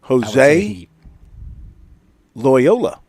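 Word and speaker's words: José Loiola: Jose Lyola. Like the school. Jose Lyola. Not spelled like the school, but that's how it's pronounced.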